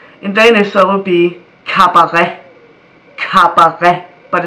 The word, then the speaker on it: cabaret: In Danish, that would be cabaret. But it starts with a C, yet it is pronounced like a K.